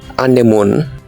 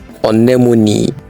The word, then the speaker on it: anemone: Do you say anemone? It is wrong. It is pronounced anemone. Anemone.